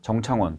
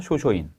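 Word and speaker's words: 正倉院: 3번 문제입니다 이것은 뭐냐면 일본대 대사 정창원 도다 이샤 쇼소인 뭐 우리 한자식 발음으로 읽으면 동대사 정창원 있데 통일신라 시대 문서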